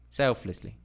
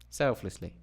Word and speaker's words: selflessly: syllables didum decongest didy Dum or Dum didy selflessly selflessly dum didy didy dum dum didy okay that's kind of